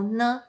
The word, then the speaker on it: 呢: The particle ne can be placed after a question to make the question sound softer and more polite. And when it's used in a question, it's pronounced with a high pitch.